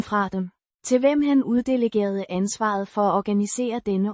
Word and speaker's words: uddelegerede: Pronounced. uddelegerede, With a soft de, sound, it's the past tense of the verb, uddelegere, to delegate, indicating an action of assigning responsibility.